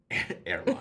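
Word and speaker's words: Eraline: the care of his grandmother, Airline, I think is how you say that. I name mine train stations. Yeah. One of those old-ass, old-timey names that I have no idea how to pronounce. It's not like Arlene. Maybe. It's spelled E-R-A-L-I-N-E. I prefer Airline. Airline.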